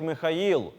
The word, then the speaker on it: Михаїл: з давнього єврейської мови у церковнослов'янській вимові звучить як Михаїл але і зазначили що